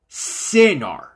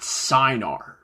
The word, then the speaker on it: Cinar: for this mistake and it's pronounced cenar not synar number five your magenta